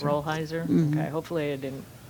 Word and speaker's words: Rolheiser: I think it's pronounced Rollheiser. Rolheiser.